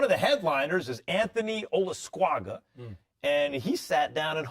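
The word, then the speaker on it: Olascuaga: The title holder at 112 pounds, Anthony Olasquaga. Did I do it? Did I say it right? Yep, you said it just spot on.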